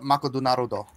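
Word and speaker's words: マクドナルド: They call it Makodunarudo. It's really, really special. What's the name of it again? Say it again. Makodunarudo. And it's a burger place? That's how they pronounce McDonald's in Japan.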